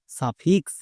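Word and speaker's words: suffix: হাসিকার মানে সাফি ক্লিয়ার এবার চলে আসো এক্সে এক্স এর পরে যেহেতু ওন আছে তার মানে এক্স এর জন্য কোষ সাউন্ড হবে যেমন সাফি প্লাস কোষ সাফিক্স ও এন এর জন্য ওন এখন দেখে আসলাম তাহলে সাফিক্স সাফিক্স আশা করছি এই টিপসটা সবার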